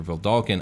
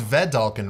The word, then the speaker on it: Vedalken: And before we get into Loxodons or Vedalken, I will give a brief overview of the guilds that are pertinent to the lore of these races.